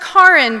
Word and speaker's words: Karen: with artwork by karen which is pronounced karen by the way as in car in garage you got that dr